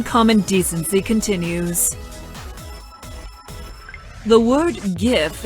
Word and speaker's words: GIF: The word GIF is pronounced with a hard G, like the word graphic.